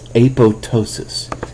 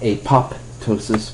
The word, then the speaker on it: apoptosis: is referred to as apotosis. So you say apo and then this p is silent and then tossis. Aptosis. So it's not apoptosis but apotosis.